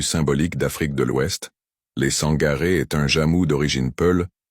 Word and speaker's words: Sangaré: Les Sangaré est un jamou d'origine peul, parfois prononcé et orthographié Sankaré ou Sankara.